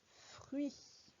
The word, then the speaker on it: fruits: Les fruits. Avec le T à la fin qui est muet et le S parce qu'il y en a plusieurs. Dans fruits, le son F s'écrit avec un F.